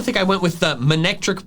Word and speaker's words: Manectric: Just look, if the first part of its name comes from the word maneuver instead of mane, then the pronunciation Monectric makes sense. Maneuver, Monectric.